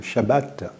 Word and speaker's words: Shabbat: Si nous considérons donc le texte sacré, le sabbat, ou comme le prononcent les Juifs, le Shabbat, trouve son origine à la création, au commencement même de l'humanité.